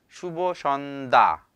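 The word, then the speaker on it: শুভ সন্ধ্যা: 자, 제 발음을 잘 들어보세요. 슈보 션다. 다가 아니에요.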